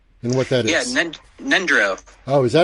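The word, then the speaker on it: Ngöndro: And it was about Gondro and what that is. Yeah, Nendro.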